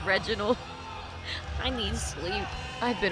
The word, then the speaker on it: Reginald: I called it Renaud. It's Reginald.